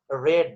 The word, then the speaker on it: read: এবং তখন কিন্তু রিড কে তুমি রিড উচ্চারণ করতে পারবে না, তোমাকে রিড কে উচ্চারণ করতে হবে রেড। So the survey report, a copy of which was acquired by the Dhaka Tribune, read that.